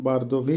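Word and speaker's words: бордовый: বারদোভি, বারদোভির অর্থ হবে বারগান্দি, অর্থাৎ এটা লাল, দেখতে লালের মতো কিন্তু একটু কালো কালো, যার জন্য এটাকে নাম বারদোভি বা বারগান্দি, উচ্চারণ হবে বারদোভি।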